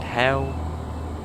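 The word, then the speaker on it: Hayle: yes it's called hell is that how you even pronounce it hell i suppose it probably is i can't think of any other way you pronounce it it's h-a-y-l-e i would say still must be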